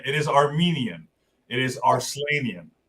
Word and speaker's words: Arslanian: Arslanian. It is Armenian. It is Arslanian. Arslanian rhymes with Armenian, and I know it is an Armenian name.